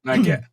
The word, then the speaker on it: 9GAG: How do you pronounce that, Ray? 9GAG.